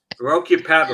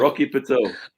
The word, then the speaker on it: Rocky Patel: Rocky Paddle. Rocky Patel.